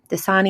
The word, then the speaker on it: Dasani: We have the Monster Energy drink 4-packs, as well as the Dasani Dasani is how you say it, water 32 packs for $5.99 after 2 off 1 5-time digital.